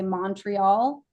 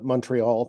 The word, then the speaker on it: Montreal: If you say Montreal, you're not local. Okay. So there's MUN, Montreal. There were other giveaways for people that I wasn't from Montreal when I was there.